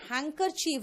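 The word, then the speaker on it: handkerchief: उसके बाद हैंकर चीफ, देखो लिखते क्या है, हैंड कर चीफ लिखते हैं और बोलते क्या है, हैंकर चीफ। ध्यान रखना अच्छी तरह से कि ये जो हैंकर चीफ है ना, इसका स्पेलिंग मिस्टेक्स में आता है क्योंकि उसमें हम डी खा जाते हैं।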